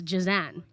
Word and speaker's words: Jehzan: name is j-e-s-a-n-d but how you say it and how my parents have called me is jazan but people don't people don't